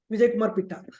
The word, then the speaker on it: Vijayakumar Pitta: Vijayakumar Pitta. Am I getting your name right, sir? Yes. Vijayakumar Pitta. Vijayakumar Pitta. If I mispronounce it, sorry for that.